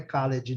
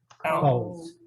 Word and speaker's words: called: Não é called, não, e nem college, não. College, não. Called. Tá vendo? Não tem E nenhum aqui, ó.